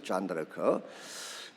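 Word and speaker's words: Jeanne d'Arc: 존 다르크. 불란스식으로는 존 다르크라고 이렇게 발음을 하지만 영어식으로는 조앤 오브 아크예요.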